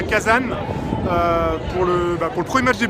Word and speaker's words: Kazan: Kazan qui se prononce Kazagne, voilà, d'après ce que les Russes nous ont indiqué.